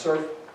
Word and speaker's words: CRRF: review the entirety of the crrf pronounced surf program it's an expense